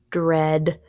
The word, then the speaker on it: dread: guys are doing awesome dread Dirar a short e good dread dread means it's